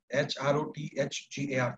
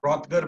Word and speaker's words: Hrothgar: And after him, Hrothgar, H-R-O-T-H-G-A-R, Hrothgar, we also pronounce him as Hrothgar.